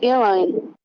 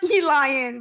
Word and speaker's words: Elaine: I gave it's Elaine. It's not Elian, but okay. That's not how you pronounce it.